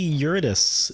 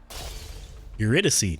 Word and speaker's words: Eurydice: Let's see Eurydice if she's here. Eurydice. Eurydice, never mind. That's how you pronounce it.